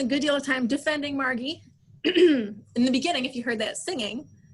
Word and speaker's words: Margie: one daughter margaret or margie as they call her with a hard g born in 1924 in